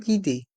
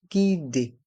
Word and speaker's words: guidée: se prononce gu GUID et le E de guidé à la fin est muet guidé une visite guidée